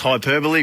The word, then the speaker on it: hyperbole: involved in this one hyperbole is pronounced hyperbole which is what i think